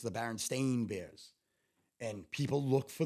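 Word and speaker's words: Berenstain: remember it being pronounced Baron stain so that I believe is the correct way that you pronounce it but I always remembered Baron Steen I remember the sweet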